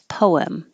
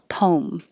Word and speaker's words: poem: can say two ways you can say with two syllables poem or one syllable poem but poet is always